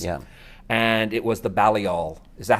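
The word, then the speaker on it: Balliol: christopher christopher hitchens yeah and it was the bally all is that how you pronounce it from oxford yes and and it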